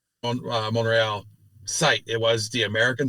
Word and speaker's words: Montreal: I also props to your Canadian pronunciation monreal that tea is is basically silent you know and you